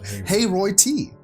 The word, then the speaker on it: Hayroot: It's Hay, the name Roy, and just the T. So Hayroy T.